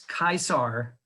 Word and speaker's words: Caesar: to go meet uh julius kaiser instead of julius caesar that's how he would pronounce his name julius kaisar and then